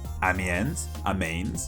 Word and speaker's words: Amiens: Amiens, or how it is apparently actually pronounced.